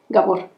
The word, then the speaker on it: Gabor: No, es que se pronuncia algo así como Gabor.